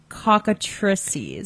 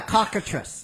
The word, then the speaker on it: cockatrices: Um, my uh pronunciation of this may be butchered, but it's basically like chicken atrocities. Cockatrices. Oh, yeah. Cockatress.